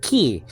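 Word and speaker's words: כי: So just say ki. That's all. Especially the yod after it is acting like a vowel. So in those circumstances, it's really E. It's like a long I sound.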